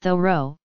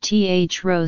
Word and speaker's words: Thoreau: name should be pronounced the row with the H sounded and stress on the first syllable among modern day American speakers it is perhaps more commonly pronounced th row slash theta ro slash